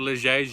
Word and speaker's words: Les Gets: them I'm here in Les Gets or Lachey's you're supposed to pronounce it and the next question